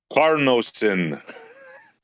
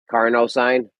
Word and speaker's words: carnosine: Carnosine.